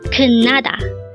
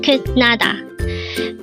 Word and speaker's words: 끝나다: 끝나다. Again, it's 끝나다. This pronounced as a 3-syllable word. The first syllable is 끝, second syllable is na, and third syllable is da. Pronounce it with me. 끝나다. 끝나다.